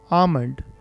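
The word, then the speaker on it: almond: बादाम को कहते हैं आमंड। इसमें एल साइलेंट होता है, एल को हम नहीं पढ़ते, इसमें हम पढ़ते हैं आमंड।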